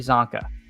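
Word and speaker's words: Csonka: Larry Zanka.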